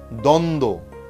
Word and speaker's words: দ্বন্দ্ব: আবার বলছি যুক্ত ব্যঞ্জনবর্ণে যদি বফলা যুক্ত হয় তাহলে সেই বয়ের উচ্চারণ থাকে না। যেমন সান্ত্বনা, সান্ত্বনা, সান্ত্বনা। দ্বন্দ্ব, দ্বন্দ্ব।